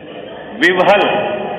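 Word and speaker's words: विह्वल: अति विलहव है ना, क्या इसका प्रोनाउंसिएशन, विवहल, विव आता है, विवहल है ना, विलाप करता है,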